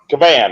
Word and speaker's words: Cavan: Is it Cavan or Cavan? Cavan. I that's the way I've been pronouncing it for.